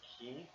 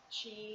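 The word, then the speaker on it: χ: And yes, it is actually pronounced Key, not uh, Chi. not Chi, not X, nothing like that. It's Kingdom Hearts Key.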